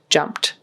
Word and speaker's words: jumped: And same thing with jumped. That final T sound there has to be there. It's spelled with an ED, but a lot of the time we will say it with a T sound.